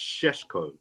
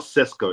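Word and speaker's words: Šeško: yesterday he's actually pronounced shesko it's like I didn't knowes it's not cesco it's shesko anyway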